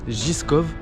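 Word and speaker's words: Žižkov: on vient d'arriver à la tour zizkov pour qu'ils se prononcent giscop c'est une tour qui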